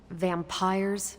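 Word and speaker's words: vampyres: said they were vampires vampires with a Y pronounced exactly the same as vampires I suppose that was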